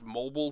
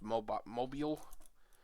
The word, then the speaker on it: Mobile: The program read that as Mobile, but I think it's pronounced Mobile.